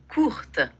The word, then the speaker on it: courte: On ne dit pas la E, mais on dit la T. S'il serait masculin, serait court. No diríamos la T, mais on dit courte.